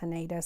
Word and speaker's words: Haneda: Um, I think it's actually pronounced Hanada, but everybody says Haneda, so I just go with it.